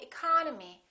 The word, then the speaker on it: economy: at the first word economy the second syllable is tressed therefore this e and this o are reduced we don't say economy we say economy economy look at this